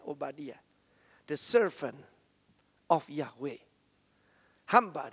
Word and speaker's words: Obadiah: Menurut catatan para rabi Yahudi, putra yang dibangkitkan ini adalah Nabi Obadiah atau yang kita lihat dalam Alkitab Obaja, sebetulnya bacanya Obadiah, the servant of Yahwe.